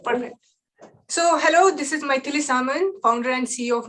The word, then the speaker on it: Maithilee: If you want to remember, easy remember is to think about mighty Thor. So Maithilee, that kind of Maithilee, but it's Maithilee.